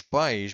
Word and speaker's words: pais: So os meus pais moram em Portugal. Be careful with this word because pais, os pais means the parents.